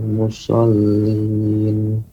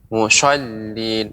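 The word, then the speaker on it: مصلين: Fawailul lil musallin. Huruf sin, huruf sad tidak sampai ada jadi huruf shin. Mushallin, akan tapi sa seperti sad yang tipis ditebalkan jadi sa. Musallin, ya, musallin, tidak mushallin atau memonyongkan musallin.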